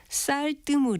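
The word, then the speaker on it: 쌀뜨물: 아마 쌀물이라고 발음하는 분들이 많지 않을까 싶은데요. 이것은 표기 형태와 같은 쌀뜨 맞는 발음입니다. 쌀뜨은 쌀과 뜨물이란 두 개의 단어가 합해진 것이고 뜨물은 곡식을 씻어내 부역해 된 물을 뜻하니까 뜨물을 니은을 첨가해서 뜬물이라고 발음할 이유가 전혀 없는 거죠.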